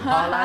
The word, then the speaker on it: Haaland: Haaland, there you go, just said it right.